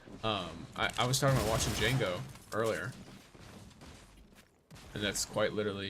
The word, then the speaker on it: Django: The D is silent. I was talking about watching Django earlier.